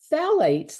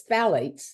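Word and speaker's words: phthalates: go through them quickly phalates the p is silent so it's th the pH is silence so it's phalates is the way we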